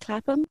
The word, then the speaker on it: CLAPAM: Zainal, tell us how Cleft Lip and Cleft Palate Association of Malaysia, or CLAPAM, have I pronounced that correctly? CLAPAM?